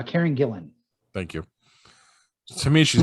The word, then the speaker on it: Karen Gillan: i like uh karen is it dylan gilliam yep right angelina yes yes i'm looking to you hugh for the pronunciation on that one uh karen gillan thank you to me